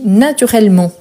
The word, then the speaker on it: naturellement: à la fin mais je ne prononce pas le T mais quand il s'agit